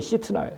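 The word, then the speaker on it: שִׂטְנָה: 원래 발음이 시트나예요.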